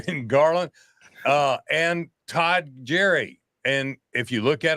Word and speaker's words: Gyure: Garland uh and Todd Jerry and if you look at on the screen it's gonna s look like G cheese but it's pronounced Jerry okay guys I gotta